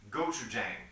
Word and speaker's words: gochujang: The dipping sauce, the samjung, is comprised primarily of a Korean condiment called gochujang, which is yeah, right. I saw your eyebrows. Yeah, I was like, whoa, nice pronunciation.